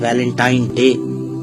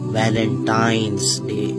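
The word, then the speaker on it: Valentine's Day: नाम पर गौर करें इसे जो आम कहा जाता है यह वैलेंटाइन डे है लेकिन हकीकत में जो इसका प्रोनाउंस एशन है वह है वैलेंटाइंस डे य वैलेंटाइन वाला दिन है और उस बदबख्त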